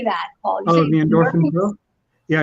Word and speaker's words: Endorphin Pro: I recently became a Saucony endorphin pro or endorphins. How do you say that, Paul? The endorphin pro? Yeah, it's endorphin single and then pro.